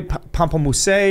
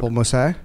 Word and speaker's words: pamplemousse: No, it's not how it's pronounced, pal. That was made very clear in some of the feedback that we had from that episode. It's Pamplemousse? It's French. It ain't Pamplemousse. That's Who not gives the